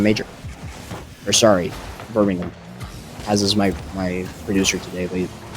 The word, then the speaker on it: Birmingham: The hard H came out in my pronunciation as an American in Birmingham.